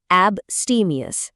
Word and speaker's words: abstemious: সেই শব্দটা হল বস্টিমিয়াস। উচ্চারণটা মন দিয়ে শুনুন।